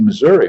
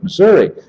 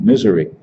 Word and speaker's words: Missouri: he certainly didn't like Missouri I pronounced the name of the state wrong as a matter of fact putting the accent on the first syllable instead of the second one calling it misery and it's funny after